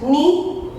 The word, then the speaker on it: knee: Knee, K is silent.